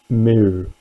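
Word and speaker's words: μ: Google Translate as well, and that is actually mu. Yeah, I'll say that again, mu. So I don't know, I mean Greeks might pull me up on that, but mu is what we're calling that.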